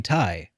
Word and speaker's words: Ti: cuz I'm like my my GTX 970 970 Tai uh is is and I I called it Tai because that's how it's supposed to be pronounced but um it actually it's short for